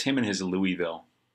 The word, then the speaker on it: Louisville: him in his louisville how do you say i say louisville if you're from this place you'll say louisville louisville maybe that's just what i should say is louisville because that's how the people that live there say